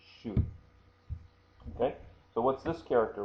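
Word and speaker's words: 手: before, which means hand, we pronounced it before as te, and it can also be pronounced as shu, and there's the katakana right there for shu, but it can also be te. In this context, it is shu.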